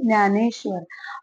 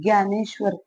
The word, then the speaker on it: ज्ञानेश्वर: ये न्य है, मराठी में बोलते हैं ज्ञानेश्वर, और वही न्य को हिंदी में ज्ञानेश्वर, ज्ञ से पुकारा जाता है। ठीक है, तो याद रखेंगे इसका प्रोनाउंसिएशन है न्य मराठी में और ज्ञ हिंदी में।